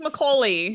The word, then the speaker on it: Macaulay: And his Macaulay. I don't know how to say it. It's Macaulay.